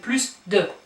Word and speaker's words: plus: Here you do pronounce the S. We're saying plus grande, but here we're saying plus de.